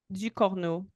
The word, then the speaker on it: Ducournau: Ducournau.